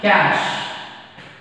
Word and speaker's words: cache: You have to pronounce it as cache memory.